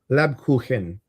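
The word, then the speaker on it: Lebkuchen: Lab kuhen. Khen. Laben. Kuken means cake.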